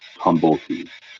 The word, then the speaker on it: Tumblety: What is it, Tumbly? Checking. Yes, Reese. That surname is pronounced Tumblety. Tumblety. Okay, Tumblety.